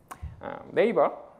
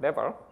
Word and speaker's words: NAVER: So NAVER, not NAVER, please be careful when pronouncing it, okay?